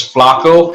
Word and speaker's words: flaco: Did you know that in Spanish, if you pronounce it a little differently and put a Spanish accent, instead of Flacco, it's Flaco?